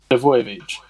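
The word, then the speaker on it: Milivojević: In defence, Townsend, MacArthur, Milovic, I can't pronounce his name, Milovolicic. Say it, mate. Milovojevic.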